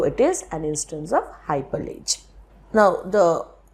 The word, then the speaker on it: hypallage: is an instance of hyperlage now the pronunciation of hyperledges also hypology it's all right if you pronounce it in either way so far as you